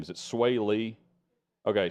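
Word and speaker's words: Swae Lee: for however i say his name is it sway lee okay sway lee diplo they did this performance of of tupelo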